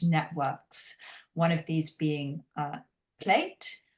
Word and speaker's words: Pleed: one of these being Pleed. That's spelled actually P-L-E-E-D, but I believe we pronounce it plate in English.